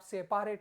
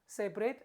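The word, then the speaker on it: separate: अलग कर दिया सेपरेट बट आप सेपेट मत पढ़िए इट्स सेपरेट and then सेपरेशन बन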